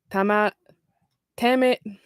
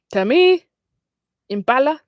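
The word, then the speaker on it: Tame Impala: Best dance electronic recording in the summer by Tama Tamit. Tami Impala is how to pronounce it.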